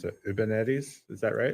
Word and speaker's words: Uwubernetes: was called I don't even know how to pronounce it Uwubernetes Is that Kat Cosgrove: Uwubernetties.